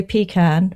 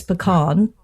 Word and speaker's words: pecan: Well, down south you'll get told off if you say pecan, but it's pecan. The southerners say pecan, but New York we do say pecan.